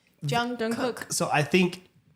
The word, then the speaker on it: Jungkook: When I remember when we started, Jungkook is probably the way you pronounce it if you're saying it in Korean properly, but phonetically spelling it because it is a K.